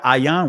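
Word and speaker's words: ayin: The first letter, ayan, which is silent in the Israeli language, I, sight, watch.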